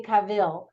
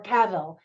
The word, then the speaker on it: Cavill: Holmes played beautifully by Henry Cavill or Cavill I've heard both pronunciations so she opens up